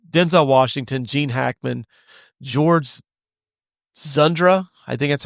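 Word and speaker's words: Dzundza: This stars Denzel Washington, Gene Hackman, George Zundra. I think that's how you pronounce his name. Yeah, I think so. It looks like it's Dzundra.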